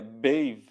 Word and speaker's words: Badb: E aqui a gente vamos falar rapidamente, né, dos 2 nomes ali que mais aparece, que seria Bav, mas ali seria Bave, né, tem essa pronúncia.